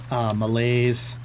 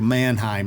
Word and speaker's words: Mannheim: we'll be passing through Malaise. Am I pronouncing that right? We're starting in Strasbourg. We're going through Mannheim, not Malaise.